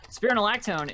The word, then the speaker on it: spironolactone: ones are sterna lactone which is spelt like it sounds and a shorthand is often Spiro spironolactone is a fantastic drug